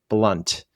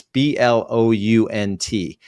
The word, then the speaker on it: Blount: The first book is Fanatical Prospecting by Jeb Blunt. I think he pronounces it Blunt. It's Blount.